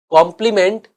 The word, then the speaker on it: compliment: Always pay हिम ए कॉम्प्लीमेंट या कॉम्प्लीमेंट। अब pronunciation तो सेम ही है, लेकिन एक की स्पेलिंग है COMPLIMENT और दूसरा COMPLEMENT।